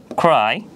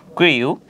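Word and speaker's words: crew: এর পরবর্তীতে আমরা যদি দেখি ক্রিউ, এখানে ক্রিউ এর শুদ্ধ উচ্চারণ হচ্ছে ক্রু, যার অর্থ হচ্ছে নাবিক দল।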